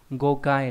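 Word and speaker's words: 誤解: Âm ôn đọc là go, ví dụ trong từ gokai là ngộ giải, nghĩa là hiểu sai, hiểu lầm.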